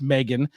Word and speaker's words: M3GAN: uh Meg which is with the three uh pronounced Megan is a 2022 American